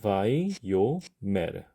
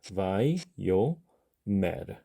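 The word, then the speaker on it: וַיֹּאמֶר: 그 다음에 알레프가 종성의 자리에 오게 되면은 그 알레프는 하는 소리가 있는 것이 아니라 묵음입니다. 소리를 내지 않아요. 묵음입니다. 그러니까 초성, 중성, 종성의 자리에 있지만 소리가 없으니까 여기서 끊어줘야 되고요. 발음하게 되면 바이, 요. 자, 그 다음에 나오는 맴, 세골, 레쉬까지 하게 되면 이건 간단하죠. 메르. 음절은 바이, 요, 메르. 바이, 요, 메르. 이런 식으로 발음하게 됩니다.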